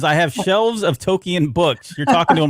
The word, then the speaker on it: Tolkien: Tolkien. That Tolkien wrote.